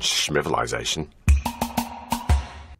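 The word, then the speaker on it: civilisation: S so it'll be c-i-v-i-l-i-z-a-t-i-o-n now in British English it would be pronounced civilization civilization civilization and again I want to emphasize the i in the middle this time civilization civilization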